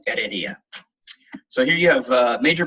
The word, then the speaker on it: Heredia: Someone just mentioned that the H at the beginning of all the words in Spain is silent, so it's Arro and Heredia.